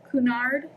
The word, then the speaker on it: Cunard: Sorry, it's kind of having a hard time to focus, but it says the Cunard, I believe that's how you say that, but it's spelled C-U-N-A-R-D, and then Steamship Company.